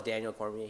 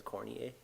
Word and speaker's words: Daniel Cormier: Like he calls Daniel Cormier, he says Cornier.